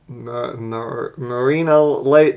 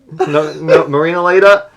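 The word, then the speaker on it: Marinaleda: I'm gonna pronounce it wrong, but Marina Late. No, Marina Leda.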